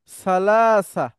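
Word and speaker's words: ثلاثة: হবে তাই না স্যার সালাসাতুনকে আপনি থেমে গেলে সালাসা বলা যায় গোলতা হা হয়ে যায় থামলে আমার সাথে বলেন আপনি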